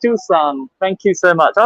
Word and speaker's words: Tucson: much for vehicle losses the small city is pronounced Tucson thank you so much I was thinking yeah